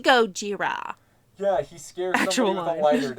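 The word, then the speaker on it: ゴジラ: Japanese man or Taiwanese man an Asian it's pronounced Gojira yeah he scared somebody with a lighter to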